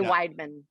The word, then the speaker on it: Wideman: Weidman. We just say Weidman. Yeah. So kind of plain Jane and squished together all at the same time.